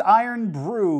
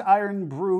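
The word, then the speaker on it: Irn-Bru: second this is berri's iron Brew 1901 iron is spelled irn and Brew is spelled BR Ru it's usually not how you spell it it's a fun little way to spell it but this is the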